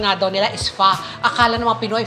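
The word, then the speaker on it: phở: sarap sarap nung fa niya Oo at ang pronunciation nga daw nila is fa akala namang Pinoy fo kasi ang spelling niya PH but it's pronounced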